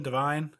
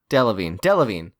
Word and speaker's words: Delevingne: I always call her Kara Deviled Eggs because I can never remember how to pronounce her last name. Divine? Delevingne.